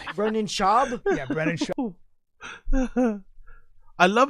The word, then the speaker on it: Schaub: say it's not right Brennan shab yeah Brennan shab he is not Mexican did he say the